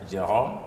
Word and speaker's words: Jerome: you so much Mr jome ALU ah thank you very much to try to pronounce my name the right French way yeah but don't worry I'm in French we pronounce Jerome jome but I'm used to